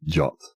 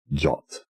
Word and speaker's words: JWT: JW u jwu t is pronounced jot jot and it's also GIF